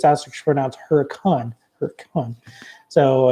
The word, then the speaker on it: Hurricane: we went up to this little challenge not pronounced hurricane as most West folks would say but it's astronauts Huracan or come on so it's a small Mormon